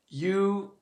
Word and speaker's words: Io: of connecting with him finding a chant that you find easy to say or sing and that